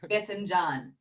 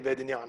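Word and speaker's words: باذنجان: You have to pronounce it with the harsh j. Yeah. Or in Kuwaiti Bedinyan.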